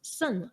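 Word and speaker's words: saṃ: And Sang, S-A-M, you pronounce as Sun, S-A-N.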